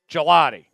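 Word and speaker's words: Gillotte: Gelotti. Gelotti. Okay, so Tom was right and the NFL got him wrong.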